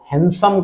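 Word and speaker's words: handsome: देखिए इसमें ये डी साइलेंट है। ध्यान रखिएगा। हम आम भाषा में तो हैंडसम बोल लें चलेगा। लेकिन थोड़ा एडवांस यदि प्रोनंसिएशन देखें तो हैंडसम कहलाता है। D silent हैंडसम।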